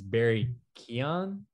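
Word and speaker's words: Barry Keoghan: honestly not 100 certain pretty sure it's it's barry keon um i'm not irish by any stretch it's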